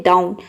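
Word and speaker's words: down: यदि किसी वर्ड के बीच में OW हो तो OW को हम आव पढ़ते हैं। किसी वर्ड के बीच में अगर OW आता है तब हम इसको आव पढ़ेंगे। जैसे कि देखिए यहाँ पे है डाउन, तो इसमें OW जो आया है ये वर्ड के बीच में आया है।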